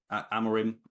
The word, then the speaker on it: Amorim: great question and also leader the sorry the pronunciation as well do I say it right yeah amarim yeah Ruben fine cool um I'd say leader